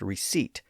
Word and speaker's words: receipt: I should note that we do have a few words with a silent P, like the word receipt, and that's because the original Latin root word passed through French where it lost its P sound.